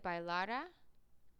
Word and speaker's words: bailara: Because bailará, if this had an accent, would be the future tense of he or she will dance. Without the accent, bailara, that's the past subjunctive.